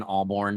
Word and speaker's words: Ahlborn: I mean, I'm on Facebook, just my name, Alborn. The H is silent, so it's AHLBORN.